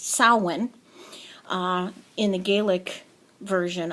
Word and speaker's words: Samhain: murder the word and call it calling it Sam Hayne because it's spelled s-a-m-h-a-i-n but it's actually pronounced salwan uh in the Gaelic version of it um